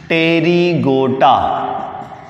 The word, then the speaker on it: Pterygota: Number 1, पहली class का नाम है सब class टेरिगोटा। टेरिगोटा, P silent है।